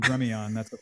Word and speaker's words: Gremillion: Says my name, everybody says me is Gremillion, so I'm Gremillion. That's a French Cajun name, so people mispronounce it all the time.